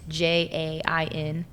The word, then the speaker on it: Jain: Jane, it's Jain.